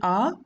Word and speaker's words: ä: does that have us there is also our special letter a for that try to say ah and at the same time smile with open mouth hold your tongue near your bottom date ah in the